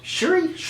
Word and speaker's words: Shuri: Letitia Wright's character, Shuri, I loved Shuri, I think it's pronounced Shuri. I'm so sure that it's Shuri.